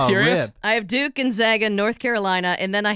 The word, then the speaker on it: Gonzaga: Gonzaga. Gonzaga, like Baga. Gonzola. Gonzaga. Gonzaga. Okay, Gonzaga. So. Like Zag. It rhymes with bag.